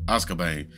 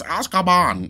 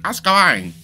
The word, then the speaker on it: Azkaban: Harry Potter and the Prisoner of Azkaban. I know I'm probably butchering that. And I'm gonna be hearing it from y'all. Yo, you're saying it wrong, man. It's Azkaban. Azkaban.